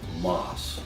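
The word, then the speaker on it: Maas: happens to be called Moss. Now that's how I pronounce it, but it is spelled M-A-A-S, and you're going to want to wear gloves when you use it.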